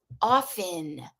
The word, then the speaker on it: often: And do that often with a silent T and then with a noisy T.